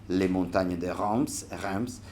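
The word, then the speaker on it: Montagne de Reims: If you want to pronounce it in French, I think it's something like Les Montagnes de Reims.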